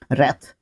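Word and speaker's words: wrath: रैथ, डब्ल्यू के बाद जब आर आता है तो वो आपका ऑलमोस्ट जो डब्ल्यू है क्या हो जाता है, साइलेंट हो जाता है, तो रैथ इसको पढ़ते हैं, रैथ, रैथ इसका सेकंड एंड थर्ड फॉर्म होता है।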